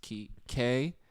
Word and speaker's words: Kapwani: This is Kapwani. The The W silent. The W is silent.